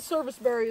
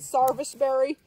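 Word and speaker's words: serviceberry: Some people pronounce it sarvice berry. Service berry, it's all the same.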